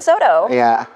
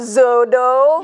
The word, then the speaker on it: soto: Nggak ada Z, kan S-O, so. T-O emang bacanya to, tapi karena ini ya aku nggak bisa jelasin jadi to, soto. Bukan zodo, bukan shodo.